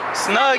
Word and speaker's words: Snuggie: Snuggie. Like the blanket.